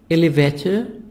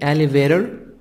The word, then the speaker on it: elevator: 12 tour hold has elevator elevator British النطق الأمريكي elevator T soft D عشان من الحرفين المتحركين elevator left blocks distances